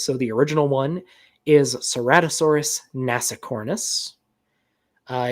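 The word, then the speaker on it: Ceratosaurus: Seratosaurus or Seratossaurus or you could pronounce it keratosaurus if you're a real sticker for Latin.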